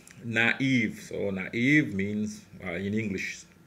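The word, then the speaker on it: naïve: close to each other and both must be pronounced e naive so naive means in English the same meaning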